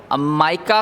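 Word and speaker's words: mica: इसके बाद हमारे पास एक और टाइप आती है student and that is called the माइका capacitor और मीका कैपेसिटर। हम दोनों तरह से प्रोनाउंस कर सकते हैं।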